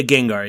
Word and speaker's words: Gengar: wrap up i want to ask about your gengar collection is that how you pronounce it i'm i am so not a pokemon guy so i don't know is it gengar yeah gengar yeah he's the the purple ghost pokemon yeah